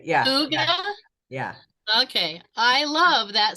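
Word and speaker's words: hygge: Yeah, it's Hooga is how you say it. Yeah. Hooga?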